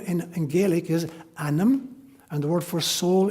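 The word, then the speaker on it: ainm: name in Gaelic is anam, and the word for soul in Gaelic is onum. They're almost identical. One is spelled A-I-N-M, anam is my name.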